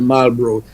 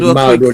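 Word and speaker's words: Marlborough: Um, so you'll find there's a you'll find there's a Malro as they pronounce it Malro they say in England.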